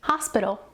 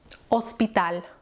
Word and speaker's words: hospital: Next word we have is hospital, hospital. Notice that the H is silent.